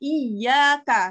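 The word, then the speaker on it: إِيَّاكَ: Nah, seperti di surat Al-Fatihah ada iyyaka. Nah, kita bacanya iyyaka na'budu ya, bukan iyyaka tapi iyyaka.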